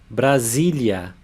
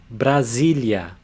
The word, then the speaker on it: Brasília: When it comes between two vowels, it has a Z sound. So this syllable is Z. Brasília. Brasília.